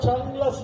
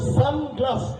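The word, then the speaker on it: সানগ্লাস: কথাটা চান গ্লাস না, কথাটা হচ্ছে সান গ্লাস।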